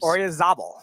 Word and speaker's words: Oyarzabal: Orizabel. Oh, yeah. I'm going to pronounce that.